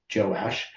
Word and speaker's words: Joash: And both of them also have it pronounced either Jehoash or Joash.